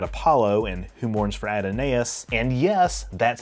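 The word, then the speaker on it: Adonais: the Greek god Apollo and whom mourns for Adinese, and yes, that's how it's pronounced, and a giant space amoeba in the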